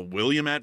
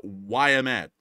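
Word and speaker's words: Willamette: by someone um because I was calling it the William at river because it's spelled a lot like will uh William but apparently it's uh why I'm at it's not will I thought it was Wilmet but it's why I'm at apparently but anyways with that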